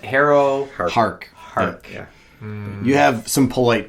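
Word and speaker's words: Harrowhark: As evidenced by the fact that you've been calling her Harrow Hawk all episode. Harrow Yep. What is it? Harrow Hark.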